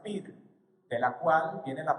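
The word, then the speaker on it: πῦρ: Y cuando nosotros vemos ese vocablo, fuego, en la palabra, en el original, en el griego, esto viene de un sustantivo que se pronuncia pir, de la cual viene la palabra que nosotros pronunciamos piromaníaco, es decir, un fuego, algo o alguien que es incendiario.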